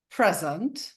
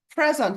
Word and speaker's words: present: between present which is a verb and the syllable stress goes on the first part of present which is a gift and then present sorry present which is a a noun sorry I said